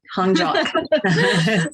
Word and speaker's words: Honjok: Did I pronounce it right? You did, Honjok.